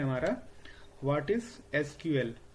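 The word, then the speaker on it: SQL: Question number 12 है हमारा what is एसक्यूएल? इसको हम लोग सीक्वल भी प्रोनाउंस करते हैं।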